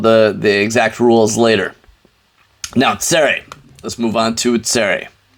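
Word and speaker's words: צֵירֵי: Tsere is pronounced as a. It's going to be, here, let's put it as under the aleph here. Put it under the aleph. Boom, 2 dots right there. It's a longer A.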